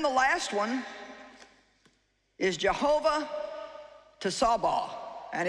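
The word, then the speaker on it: Tsebaoth: do and then the last one is jehovah to sabah and it's spelled t-s-e-b-a-o-t-h and it means the lord of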